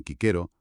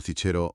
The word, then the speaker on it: Cicero: Pues por ejemplo, la C sonaría siempre como k, dirían kquero, no cichero o cicero. La googa, suave, como en gato, no como en gente.